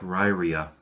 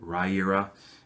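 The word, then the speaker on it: Riyria: it up actually um Michael J Sullivan actually says he pronounces it ryra uh but it looks like ryia anyways he he pronounces it Raya so it's the Raya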